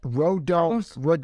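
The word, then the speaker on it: Rodón: How do you say that? Rodon.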